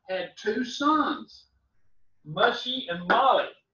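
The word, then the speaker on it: Mahli: Well, Merari had two sons, Mushy and Molly. Like Molly Skaggs, okay? That's a big girl's name today, but it's spelled M-A-H-L-I, Molly, okay?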